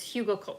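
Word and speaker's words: Hugelkultur: ground it is really nice um let's see Hugo culture pronounced Hugo yeah we talked about that before here we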